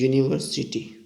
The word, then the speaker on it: university: The first letter is U and the U is vowel, but when we will pronounce it, it is university.